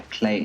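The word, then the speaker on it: Klei: amazing games made by Clay entertainment clay rhymes with Clay very clever take on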